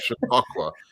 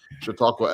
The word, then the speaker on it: Chautauqua: No, it's all correct, way more than I deserve, frankly, but the pronunciation is Chautauqua. Chautauqua after Lake Chautauqua in upstate New York.